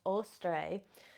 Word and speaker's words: Eostre: to the Saxon goddess eostre sometimes pronounced ostre and the name oara